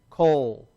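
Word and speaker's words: קול: word let's start with the coof right so we see the K and then the o right and then the lamid okay ready together coal coal and so that's a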